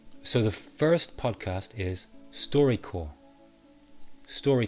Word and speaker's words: StoryCorps: six podcasts themselves so the first podcast is story core story call notice the p is silent now each episode of storycorps is a